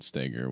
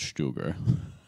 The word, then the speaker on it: Steger: Because we just both got done reading the Beyond Fundamentals book by Ben Steger, which is actually supposed to be pronounced Stuger.